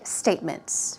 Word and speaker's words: statement: we talked about bank statements receiving bank statements and then depressing you so statement stress goes there a statement is very